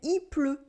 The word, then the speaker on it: il pleut: We say il pleut, il pleut.